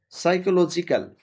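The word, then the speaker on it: psychological: সঠিক বানানটি হচ্ছে সাইকোলজিক্যাল। পি এর উচ্চারণ হবে না।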